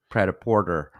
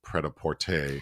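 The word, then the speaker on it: Prêt-à-Porter: oh and I said I used my 10-year-old pronunciation of prap Porter so the an Alman film ready to wear but the French title is prapor and you said prap Porter so you wanted to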